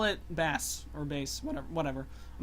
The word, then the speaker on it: Bass: mega man and bass yes i know it's pronounced bass but i still pronounce it best because i think that that uh pronunciation sounds